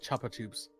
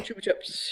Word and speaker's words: Chupa Chups: one of her co-workers that called it Chapa CHS yeah Chapa Chapa CHS I'm like you get one of the pH one of the syllables right but then you mess up on the other one how do you do this what the heck what they call them Chupa Chups here they're Chupa Chups Chupa